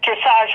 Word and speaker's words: dressage: of them is called dressage rhymes with massage hmm and regardless of